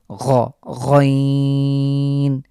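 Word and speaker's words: غين: একটা অতিরিক্ত ফোঁটা রয়েছে এটার নাম হলো গাইন যেভাবে আমরা আমরা খ উচ্চারণ করে এসেছি ঠিক সেভাবে আমরা এই হরফটি উচ্চারণ করব তাহলে চলুন এই দুটি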